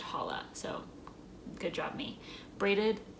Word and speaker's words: challah: there's artisan chala bread it looks like challah but i know that it's pronounced holla so good job me braided loaf with slightly spongy texture and sweet tangy taste i've made hollow bread before so i